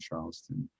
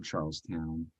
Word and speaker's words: Charleston: Low Country especially around Charleston or charl town um depending upon how you want to pronounce that one um and so yeah